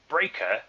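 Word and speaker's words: Breakker: his actual name okay breaker with two k's you don't even pronounce one of the k's why is it in there it's not doing anything for anyone it's just pronounced breaker like normal yeah my son's name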